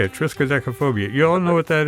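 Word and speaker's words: triskaidekaphobia: triskaphobia trophobia yeah that's how you say it triskaphobia you all know what that is that's a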